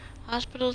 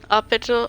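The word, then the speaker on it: hôpital: Hospital, oh, it's hospital, not hospital. That's how they say it. Hospital St. Louis, please. Hospital, I still pronounce hospital, but the S is silent.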